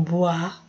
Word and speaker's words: boit: Se lave les visages et boit du café. Boit. Não lê o T. Faz de conta que o T não está aí. O I tem som de UA. Então, boit du café.